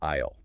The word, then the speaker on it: aisle: The pronunciation is identical to the contraction for I will. It sounds exactly like aisle.